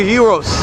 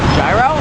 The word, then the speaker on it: gyro: on that blue thing uh gyro idiot it's gyro come on thomas you silly sill you silly bill come on dog it's hero you gotta be greek man what is the